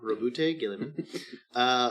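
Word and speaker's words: Roboute Guilliman: I looked up the pronunciation of that. That's Robot what they Girly say. Man. Robot Girly Man. Robute Gilliman.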